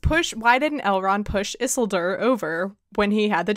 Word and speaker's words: Isildur: And so now Don has created like a whole line of merch that just says Yeet Isildur, which I pronounce it in my head as Yeet Sildur.